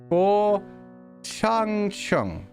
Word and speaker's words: Guo Changcheng: It's supposed to be two different syllables, as you can probably tell.